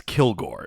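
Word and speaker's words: Kilg%re: But yeah, his name is spelled KILG %RE. But yeah, it's Kilgore is the idea.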